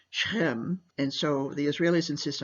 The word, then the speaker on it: Shechem: I think it's pronounced in English Shechem, but in Hebrew is Shechem, and so the Israelis insist on calling it by the Hebrew name.